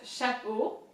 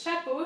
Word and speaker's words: chapeau: And then the second word is chapeau. Chapeau in French means hat. So CH again is pronounced sh, like shut up. Chapeau. EAU in French is O. Think of O, the letter O, right?